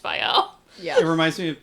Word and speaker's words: Viall: have to be like, it's Viall, not Viall. Why would you name your podcast the Viall Files Yeah.